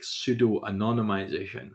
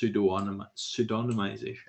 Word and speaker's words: pseudonymization: Now, I would actually pronounce it like pseudo-anonymization, but it's actually just pseudonymization.